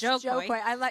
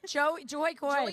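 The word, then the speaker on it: Jo Koy: It's Joe Coy. No one can say his name. Joy Coy, people call him. That's because his name is together. It's Jokoy, so you have to say Joe Coy.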